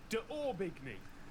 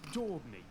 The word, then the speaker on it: d'Aubigny: And if I were English, I'd pronounce this as Daubigny. But I think it's Daubigny.